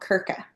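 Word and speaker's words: Krka: And the third national park that we visited is called Kirka. K R K A. Um, a very fun interesting side note about the Croatian language. They have words that have no vowels in them.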